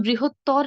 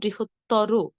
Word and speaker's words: বৃহত্তর: তর বা তম প্রত্যয় থাকলে কি অটাকে ও এর মতো করে বলবো। যেমন বৃহত্তর না বলে বলবো বৃহত্তর, ক্ষুদ্রতর না বলে বলবো ক্ষুদ্রতর, গুরুতর না বলে কি বলবো গুরুতর।